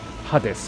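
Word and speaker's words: Hades: was optional or what Hadis incidentally was the Japanese pronunciation for haes okay yes yeah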